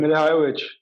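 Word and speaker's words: Milivojević: How do you pronounce it? Mile Jojovic, whatever. Milivojevic. Uh, yeah, he's also out. He got suspended, so he's not playing. Milivojevic.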